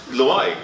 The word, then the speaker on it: Loay: Loay, you Now you said it right. Oh, before now? No, before you butchered it.